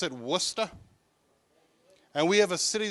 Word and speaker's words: Worcester: our city names because they're spelled differently than they're pronounced like we have a